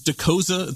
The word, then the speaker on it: Dokoza: I should actually clarify, is Dokoza the correct pronunciation of your last name?